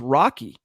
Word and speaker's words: Rocky: Real quick, Scott, it's Rocky. That's how he pronounces his name.